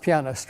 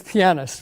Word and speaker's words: pianist: pianist and by the way that's how it's pronounced pianist right in case you've heard pianist and pianist and didn't know which was correct and didn't know who to ask it's pianist right i don't know what a piano is